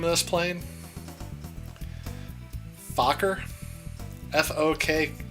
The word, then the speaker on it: Fokker: Fokker? F-O-K... It's F-O-K-K-E-R. Fokker? Fokker, because there's 2 Ks.